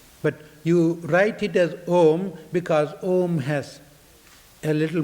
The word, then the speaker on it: Om: But you write it as Om because Om has a little more all-embracive meaning. Because there are three important syllables. A, U, M. A, U, Ma. A is the beginning of the sound, U is the continuation